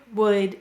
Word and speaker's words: would: Notice OU is saying its broad sound before a silent L, like in walk, talk, and chalk.